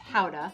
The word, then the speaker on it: Gouda: from the town of gouda which is actually pronounced hauda young gouda tends to be creamy and buttery